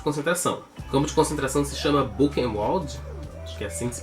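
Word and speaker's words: Buchenwald: um campo de concentração como concentração se chama book molde que assim se pronuncia é esse foi um dos maiores campos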